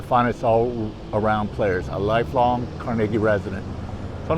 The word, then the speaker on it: Carnegie: Not Carnegie, like many of you might think, but we do pronounce this town Carnegie in Pittsburgh.